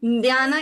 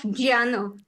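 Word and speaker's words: jñāna: marati so I have always been pronouncing Nana instead of Janar of course yes so in mantras does it make a difference should I correct myself to J please correct yourself especially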